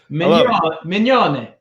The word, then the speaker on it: Mignone: Mignone. Joe Mignone. Mignone. That's how the Italians say it. The real Italians from Italy say it. The Mignone. That's all right. I like the Americans, they don't say it right.